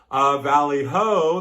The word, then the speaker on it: Valley Ho: Valley Ho, that rhymes with Valley Ho.